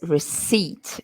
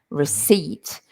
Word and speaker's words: receipt: for pronunciation receipt notice receipt we don't pronounce the P receipt and that is the